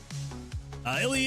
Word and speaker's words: Illy: Illy is how you pronounce their name.